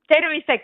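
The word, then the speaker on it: terviseks: It sounds like you're saying battery sex.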